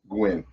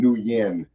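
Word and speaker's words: Nguyen: And that's spelled like G-U-I, U-Y-N, yeah. Gwen. I used to call it Gwen, New Yen, but it's just Gwen is how they pay.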